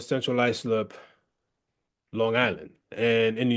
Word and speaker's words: Central Islip: So, being raised in Central Islip, did I pronounce it correctly? Central Islip.